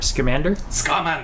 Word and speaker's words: Scamander: Scamander. Scamander. Scamander. Scamander. Scamander. Looks like salamander.